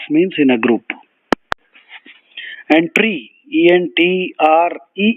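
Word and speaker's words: entrée: main course the related word is enter so Entre that's the French pronunciation and tree is uh entry would mean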